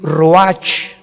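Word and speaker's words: רוח: y exhaló Isaac el Roach así como suena se pronuncia la Cia en hebreo como jota Roach se les halló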